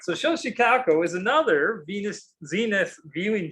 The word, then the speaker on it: Xochicalco: language what we're used to using chicago yeah show chicago is the way most people pronounce it nowadays the x has a sound all right so show chicago is another venus zenith viewing chamber location now